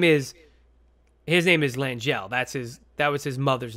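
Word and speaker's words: L'Angelle: It's basically Madame L apostrophe Angel, I think. Oh, L'Angel. Yeah, yeah, L'Angel. That's it. Right. That's it. It's L'Angel. That's their family name. Because his name is, L'Angel.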